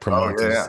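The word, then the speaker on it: Primanti's: you got to get you got to pronounce it right. It's primantis, because it's part of if you're like a real Yinzer from back in the day, it would be like, go get a primanti sandwich.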